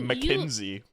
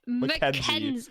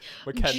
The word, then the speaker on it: Mckenzie: you have had I just called you like you McKinsey. Why did I pronounce it like that? Mckenzie. Mckenzie. Jonathan, not Thon, Than.